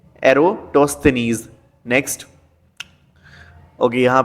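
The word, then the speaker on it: Eratosthenes: Next, father of geography, father of geography है आपकी एरिस्टोस्थेनीज, इसका थोड़ा सा प्रोनाउंसिएशन देखना, एरिस्टोस्थेनीज, ठीक है, एरोटोस्थेनीज।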